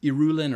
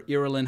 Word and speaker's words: Irulan: But yes, from the manual of Moab Deeb by the princess Irulan or Irulan, however you choose to pronounce it.